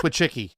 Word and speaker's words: Wojcicki: No, it's I have a little Polish in me. That's Wojcicki. Trust me, I understand it. Those are the names I know how to say. So, well, Wojcicki was talking about how